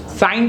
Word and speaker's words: sign: G is silent here. Sign करिए આપણે, sign, SIGN.